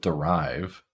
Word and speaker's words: derive: So in the case of derive, the stressed syllable is rive. So this sound becomes a schwa, it becomes reduced.